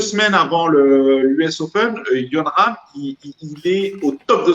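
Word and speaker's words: Jon Rahm: Alors, moi, je suis pas de près le golf, mais je me rappelle de Yon Ram. Je savais pas qu'on disait Yon Ram au niveau de la prononciation, merci.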